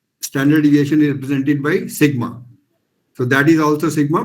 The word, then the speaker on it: sigma: you should understand sigma this is a greek letter pronounced as sigma s i g m a sigma this is a capital